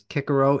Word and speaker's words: Cicero: 20 years ago that the correct pronunciation is kiaro it sounds ridiculous to me it just looks like Cicero and there there's no